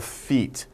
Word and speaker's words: feat: say it is a feat not your pal right pal Daniel now feet F eet but feet fe80 pronunciation is the same as feet right but feet means